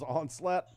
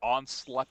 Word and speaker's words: Onslaught: Knockoff Combiner Wars Onslaught. $9. Yes. Yes, they call him something crazy too, like that. Onslut.